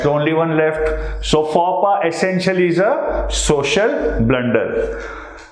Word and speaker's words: faux pas: Remember, this is not pronounced as a fox pass. It's a faux pas.